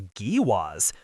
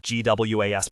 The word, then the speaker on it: GWAS: It'll require a GWAS. The term he pronounced GWAS was an acronym, Genome-Wide Association Study, or GWAS.